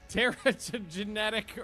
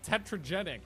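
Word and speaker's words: Terragenetic: Terra genetic originator. Nailed it. Took six times. I always call it tetrogenic, but that's not it.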